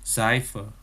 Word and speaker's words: Seife: Kemudian S Jerman itu kemarin pelafalannya dalam kalimat itu kayak huruf Z dalam bahasa Indonesia ya. Misalkan apa? Kata 7 dalam bahasa Jermannya sieben. Kemudian sabun dalam bahasa Jermannya Seife.